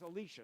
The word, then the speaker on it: Elisha: In Jewish tradition, it's Elisha, the one who comes after Elijah. We both pronounce that one the same way.